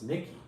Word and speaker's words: Nixie: and I was like how do you pronounce it or whatever she's like oh it's Nikki I was like okay